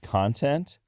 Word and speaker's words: content: but they sound different a great example in English of this phenomenon are the words 'con-tent and con-'tent and in every dialect of English that I have encountered and every accent that I have encountered and I've encountered a lot of accents in the English-speaking world the distinction between content and content is one that is a fixture if you know of